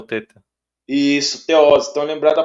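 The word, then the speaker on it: θῆτα: o tal com o teta uhum teta né o teta tem som de TH Às vezes as pessoas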